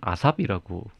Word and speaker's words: ASAP: 요거를 요즘 젊은 친구들은 아삽이라고 읽더라고요.